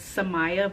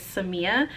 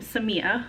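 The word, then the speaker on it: Samia: And I know sometimes when it's written down, people think it's Somaya, but it's Seama. So that's my full name, Seama.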